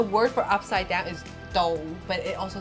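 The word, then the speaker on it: 倒: The word for upside down is "dou," but it also sounds like the word for like Here. here, yeah.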